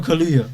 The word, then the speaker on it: Kaluuya: Daniel Kaluuya.